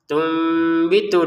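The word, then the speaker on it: تُنْبِتُ: Kemudian ternyata di depan ada ba, maka kita bacanya bukan tun lagi. Nah, di atasnya nun di sini sudah diberi mim. Sebagai tanda kita enggak boleh baca tun lagi karena di depannya ada ba. Lalu dibaca apa? Dibaca tum.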